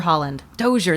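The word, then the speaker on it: Holland–Dozier–Holland: group that wrote that uh oh Holland doer Holland doer that's how you say it okay it depicts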